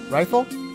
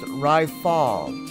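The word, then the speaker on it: Rytaal: just peachy now right rifle hey you private second class my name is pronounced Ry fall of fall it's not that difficult you must learn to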